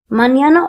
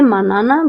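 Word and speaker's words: mañana: Notice that on top of the N there is a curly nine. This curly nine means uh you have to pronounce this letter as near manana. So you cannot say manana but mñana mñana mñana.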